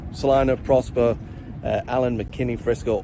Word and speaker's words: Celina: the city is uh celina so c-e-l-i-n-a a lot of people say selena that's a no bueno uh no so you